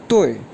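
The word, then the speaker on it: 对: जी, इसके बाद वर्ड है येस, ऑल राइट और करेक्ट के लिए जो वर्ड यूज़ करते हैं DUI फोर टोन के साथ, ये प्रोनाउंस होगा तोय, तोय, तोय।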